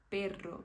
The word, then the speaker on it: perro: você saber diferenciar que quando tem apenas uma R você vai falar Pero mas se tem duas você vai falar perro isso vai servir para